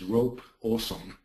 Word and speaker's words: Ropossum: So, Ropossum, or we can pronounce it Ropossum, is an assistive editing tool for a physics-based puzzle game called Cut the Rope.